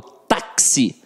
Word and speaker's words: táxi: falo tá se não eu falo táxi então esse fiz aqui tem um som de ksm ou seja eu tenho quatro letras e 5 fonemas na palavra táxi isso aqui é super